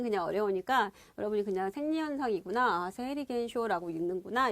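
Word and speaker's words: 生理現象: 세리겐쇼라고 읽는구나.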